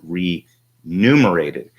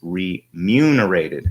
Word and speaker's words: remunerated: of people read that and they mispronounced it mispronounced it as re numerated and that is not the case it's ryu narrated as in like money it's like not exactly